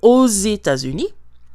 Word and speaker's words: aux États-Unis: So we are going to hear the pronunciation of the X at the end of O. It's going to sound like a Z. Aux États-Unis.